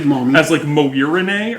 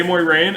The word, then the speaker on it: Moiraine: In my head, I kept pronouncing it as like Moirine or something. Oh. I don't know why I was pronouncing it that way, but then I heard someone say Moiraine, and I was like, that makes so much more sense.